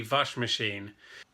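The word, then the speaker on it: Waschmaschine: hard d wash machine mostly w pronounce my B's in German d vash machine and in Italian washing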